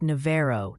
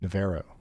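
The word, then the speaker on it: Navarro: And yes, the pronunciation Posi still wants you to know it's pronounced Navo down Texas way. Naro. Okay. So, not Navaro.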